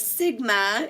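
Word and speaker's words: Σ: the mean of the data set and this Sigma is how it's pronounced what it really represents for what we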